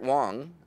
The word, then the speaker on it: Wang: especially big treat because garrett wong pronounced wa and g garrett wang from Star Trek Voyager